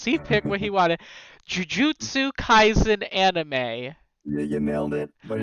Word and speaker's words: Jujutsu Kaisen: And Shal is answering questions on, and you'll have to correct me on the pronunciation because he picked what he wanted, Jujutsu Kaisen anime.